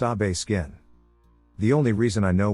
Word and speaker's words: Obeskin: I don't remember much about details of the conversation except that it was a friendly one and his name was Obeskin, pronounced Abe Skin.